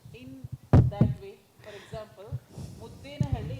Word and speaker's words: Muddenahalli: For example, Muddenahalli is pronounced as Muddanahalli or something. That's okay. Kannada words, conventionally, whatever, Muddenahalli, some people will, that's not a problem.